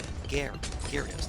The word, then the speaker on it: Gyarados: Dude, the Y is silent. Gyarados.